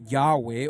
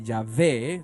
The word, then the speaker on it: Yahweh: está en el cielo donde Yahweh o donde yahvé depende de comoo lo quieras pronunciar administra este juicio entre